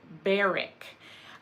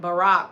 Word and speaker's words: Barak: Deborah and Barak. I want to say Barak, of course, so I might go back and forth by saying Deborah and Barak, but the way the Bible pronounced it was Barak.